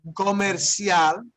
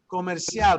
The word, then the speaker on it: comercial: Comercial, right? Here's where the C sounds like an S, doesn't it, right? Comercial, but it is a cognate.